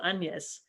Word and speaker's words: Agnes: he describes her as my daughter agnes or anyas as it would have been pronounced then and i was absolutely